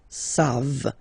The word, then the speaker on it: savent: E-N-T, you don't pronounce it, so you get the sound savent, v-v-v-v, savent, okay? Ils savent, elles savent.